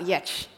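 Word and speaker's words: Giertz: i started making so my name as you can see on these pillars is spelled g-i-e-r-t-z but inexplicably it's pronounced yet because i think my ancestors were just trolls so i named the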